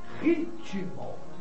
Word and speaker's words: ritmo: Porque nós, ao falarmos, nós dizemos ritmo. Está claro? Então seria uma paroxítona. Mas, meu querido, o T do vocábulo é mudo.